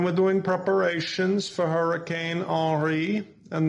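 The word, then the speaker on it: Henri: doing preparations for hurricane re and noticed i pronounced it in the french manner because unlike nasty and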